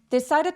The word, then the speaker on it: decided: decided to play a trick. trick은 무슨 뜻이죠? 속임수란 뜻이죠. 그래서 player trck은 장난을 치거나 속임수를 쓰는 것을 뜻합니다. decided의 D는 모험사에 끼워서 굴러가는 소리로 decided. 그리고 trick처럼 t은 발음해 주세요.